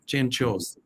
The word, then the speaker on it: Cianciosi: That's how you say it in Italian. Cianciosi.